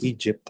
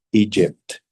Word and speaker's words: Egypt: Kalau teman-teman hanya pronounce dengan kata Egypt tanpa ada suara teh di belakangnya, like Egypt, itu akan sangat buruk ya untuk nilai. Jadi bagusnya kita harus baca semua Egypt, ya.